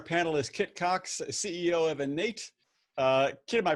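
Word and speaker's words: Enate: rounding out our panelist kit cox ceo of innate uh kid am i pronouncing your name your your uh your company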